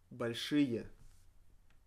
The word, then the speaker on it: большие: Большие. Большие. Большие. Pronounced rie, большие. Written большие. Written with e only because it follows sh, and according to the 7-letter rule, we need to write e after sh.